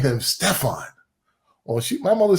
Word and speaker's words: Stepfone: movie my aunt saw and now I'm Stefon and it's funny it's funny because my mother changed the spelling of it because as you can see it's spelled a lot differently uh I've been called every name in the book Stephanie Stefon stepone I've been called everything I'm so used to